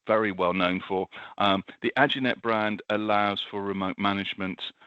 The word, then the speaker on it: Aginet: Is that how you pronounce it? Is that right, Blommers? Aginet. Is that how we say that one? Aginet, yeah.